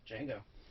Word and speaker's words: Django: it today django unchained django uh the d is silent the d is silent